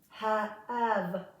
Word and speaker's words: have: And when the E is at the end of the word, again, typically, most of the time, it is silent. So, av, av, no E sound. Have, given, so a short I and a short E.